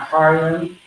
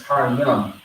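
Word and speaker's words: Harim: Har, and then yum, not yam, har yam. It's not har yam, it's har yum.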